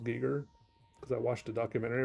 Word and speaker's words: Giger: kept saying Giger, maybe the German way of saying it or Austrian or something, but I've been saying Geer too long.